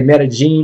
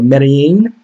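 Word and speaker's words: Medellín: You could say Medellin or Medellin. It depends on where you are.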